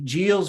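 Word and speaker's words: Giles: was jeals i believe it's a soft g geos vs california from 2008.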